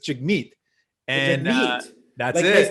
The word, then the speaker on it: Jagmeet: is and actually it's the emphasis is on the second part so it's chic meat and that's what it